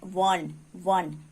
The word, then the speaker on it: one: सो 1 जो है उसका फर्स्ट लेटर है ओ, और ओ एक वावेल लेटर है, और इस वावेल लेटर ओ का प्रोनाउंसिएशन वा जैसे हो रहा है, वन है ना, वा जैसे